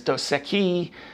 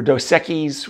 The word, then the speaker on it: Dos Equis: Mexican beers I mean there's doseki or Dos Equis whichever way you want to pronounce it um Soul there's a